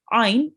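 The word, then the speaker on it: عين: iron like just here ein is pronounced from your throat oh okay but this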